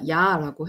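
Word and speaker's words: ja: 그리고 마지막으로는 정말 간단하게 표현할 수 있는 건데, 여기 얘네들은 J 발음이 이응 발음이 나서요. 그래서 자가 아니라 야라고 해야 돼요.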